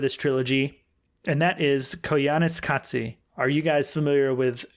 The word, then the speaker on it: Koyaanisqatsi: first part of this trilogy, and that is Koyaanisqatsi.